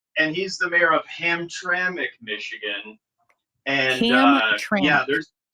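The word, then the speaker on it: Hamtramck: it's Amir gal and he's the mayor of ham traic Michigan and yeah there ham trami and you're right and actually they're one of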